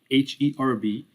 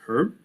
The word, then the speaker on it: herb: the we just write h e r b and people will pronounce it herb or in america the h will be silent we will see the